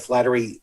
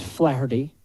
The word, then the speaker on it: Flaherty: trouble with pronunciation sometimes his name's flaherty flaherty but when you say it's flattery it's a flattery will get you everywhere it's good i think i think that flaherty is the way to go between